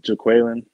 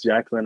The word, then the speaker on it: JaQualon: you enunciate your name it's pronounced jaquelin oh it's easy a little bit so like people think it's jacqueline at first but then like that's